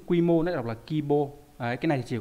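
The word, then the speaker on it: 規模: Nhưng mà trong cái chữ quy mô nó đọc là kibo.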